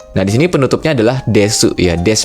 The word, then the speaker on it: です: Nah, berikutnya di sini kita akan membahas penggunaan kata desu tadi ya, penutupnya dan Jaariasen. Jadi pada bab awal ini ya ada dua penutup kalimat yaitu ada kata desu des bacanya dan ja arimasen.